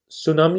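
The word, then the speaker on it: tsunami: मतलब बहुत सी चीजों को साइलेंट करना होता है, जैसे सुनामी होता है, अपन क्या तो सुनामी, टी बोलते हैं अपने लोग, रिस्क होता है अपने लोग क्या कहते हैं, रिस्क।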